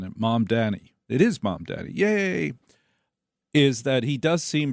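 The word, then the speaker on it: Mamdani: about this Mom Daddy, that is how you pronounce it, isn't it? Mom Danny. It is Mom Daddy.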